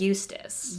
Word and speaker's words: Eustace: It is Eustace. Eustace.